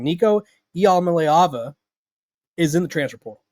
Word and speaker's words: Iamaleava: And so, if you're not familiar with what I'm talking about, Tennessee quarterback, let me write out the pronunciation, Nico Iamaleava, is in the transfer portal.